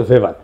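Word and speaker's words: Weber: এটা ওয়েভার বলে অনেকে। এটা উচ্চারণ আসলে ভেভার তার একটা লেজিটিমেসি এবং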